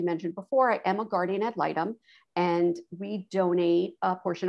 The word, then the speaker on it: guardian ad litem: prompted you to become a guardian did i pronounce that right al i don't know guardian ad litem okay all right let me correct that out